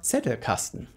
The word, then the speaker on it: Zettelkasten: course a slipbox or Zettelkasten a la Niklas Luhmann, or Zettelkasten as it is pronounced in German.